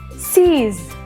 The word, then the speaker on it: sees: Nah, S tersebut dibaca Z. Menjadi sees.